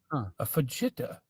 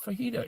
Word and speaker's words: fajita: A fitta. Am I reading that wrong? And I'll be like, "No, that's pronounced fajita."